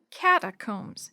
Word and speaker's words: catacombs: that word cata what catacombs Mrs Shu repeated slowly the last part is pronounced Combs like Combs to fix your hair catacombs were caves or